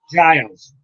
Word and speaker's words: Giles: Giles is how they say it.